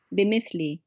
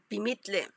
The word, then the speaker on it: بمثلي: بمثلي. Bimithli.